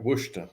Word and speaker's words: Worcester: written by guitarist from Worcester that's right Worcester that's how they pronounce it I know I've been there was number one from February 6 1982 to March 19 1982.